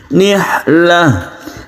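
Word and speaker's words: نحلة: Wa antun nisaa saduqatihinna nihlah, nihlah. Nah ini dibaca ha kalau kita berhenti.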